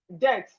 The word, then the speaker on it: debt: We have debt. The B in debt is silent.